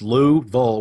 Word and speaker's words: Louisville: northerners exactly it sweet we like to say it's two and a quarter syllables its Lou bowl with a hook in the middle oh okay I get